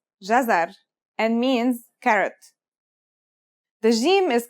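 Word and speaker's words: جزر: it out loud it should be easy it's pronounced jazar and means carrot theim is connected to the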